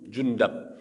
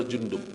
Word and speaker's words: Jundub: Yang lain, wa rawaina fi sahih Muslim, dalam sahih Muslim dari Sumarah ibnu Jundub, ada yang mengatakan bacanya Jundab, tapi masyhur adalah Jundub ya.